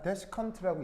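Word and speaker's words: desiccant: 그럼 여기서 이제 첫 번째 이런 말이 하나가 나오는데, 자, 데시컨트라고 읽고요.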